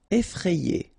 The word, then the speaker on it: effrayé: Effrayé. Okay, remember, double F, so you open the E, so E, effrayé.